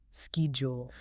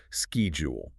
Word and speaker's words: schedule: Actually, if you're working with an American team, you will almost always hear a hard K sound. Ski jewel. Ski jewel.